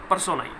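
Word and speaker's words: personae: इसका exact pronunciation क्या होता है? पर्सोनाई, राइट।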